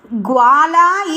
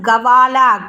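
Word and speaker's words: ग्वाला: what is that mistake, this word gwala is gavala, ga, here ig, so this is wrong way. Gwala is correct word, that spelling is ig va la, gwala, this is the correct method.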